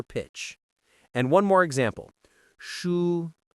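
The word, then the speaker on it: 书: Shu meaning book. Hold it up on the same tone. Shu. Steady and floating.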